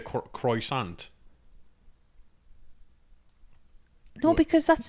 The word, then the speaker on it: croissant: Do you say croissant? No, because that's not how a British person would say croissant. Nobody says the T. You're overemphasising it. It's croissant. No, Becca, I'm not.